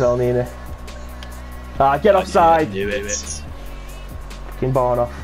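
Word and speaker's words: Elneny: El Nene. Or El Nini. Depends on where you come from in the country. Yeah, well, I'm coming as shit, so it's El Nini.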